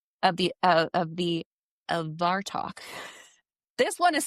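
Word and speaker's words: Abhartach: So, a lot of people think that Dracula was inspired by this legend um of the of the of Varto. This one is spelled ABH A R T A C H.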